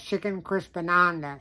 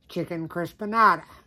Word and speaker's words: Chicken Crispanada: But for some reason, whatever that is, my brain has been reading it all evening as Chicken Crispananda. So that's why you hear me mispronounce it in this video several times. It's actually Chicken Crispanada.